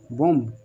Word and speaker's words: bomb: अब देखो BOMB है, इसको हम क्या पढ़ेंगे, बोम।